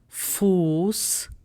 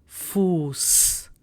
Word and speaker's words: Fuß: For S set, we are taking the German word Fuß, which means foot. Fuß. So we have sharp S sound in it.